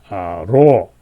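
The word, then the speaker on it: ρ: 이걸 통해서 이제 바로 이 X, 키가 이렇게 있고, 그 다음에 그것을 가로질러서 이로, 이건 P자가 아니라 로, R 발음이 나는 것입니다. 그죠?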